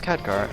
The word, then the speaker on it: Khadgar: gars pipe of insight I've always pronounced it could share but ever since I've watched the movie it was like oh wait that's Khadgar oh never mind so